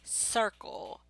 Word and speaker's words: circle: Say circle, circle. See, not an S, it's a CI.